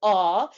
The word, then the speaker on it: AWW: So it's pronounced as Aw, but it stands for it stands for a web whiteboard app.